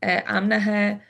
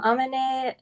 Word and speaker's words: Amina: And am I correct? I'm I'm pronouncing your name correctly. Amna. I'm Amina from D2.